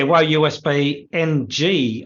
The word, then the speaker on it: WoeUSB-ng: Yeah, WoeUSB-ng.